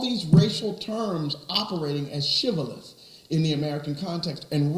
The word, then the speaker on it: shibboleth: And because they could not pronounce shibboleth, they pronounced shibaoth.